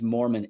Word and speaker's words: Mohrmann: the first name and then last name is Mormon m-o-h-r-m-a-n-n and y'all can find it on YouTube